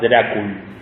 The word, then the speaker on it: Drácul: Había creado una orden para la defensa del cristianismo, que era la Orden del Dragón, que en esa época dragón se pronunciaba Drácul.